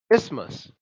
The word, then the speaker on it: isthmus: it's just this month isthmus is pronounced without the th is Maas isthmus and what is this